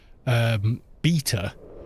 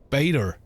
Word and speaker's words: beta: So we say beta, and Americans say beta. So they pronounce the E as though it's an A, and the T as though it's a D. So Americans say beta. Yeah, the game's in beta. Whereas we would say the game's still in beta. You know, it's just, that's a T, dude, not a D.